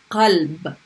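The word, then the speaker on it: قلب: In this one, I'm putting a sukun on the lam in the middle of the word. So that one's qalb, right?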